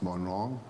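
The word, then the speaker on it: Morne Rouge: EF is more wrong it's pronounced more wrong SDA church the new testament church and Birchgrove paradise SDA church richmond SDA church soubise SDA church the st.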